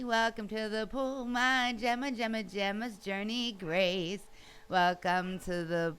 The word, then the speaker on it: Gemma: It's Gemma.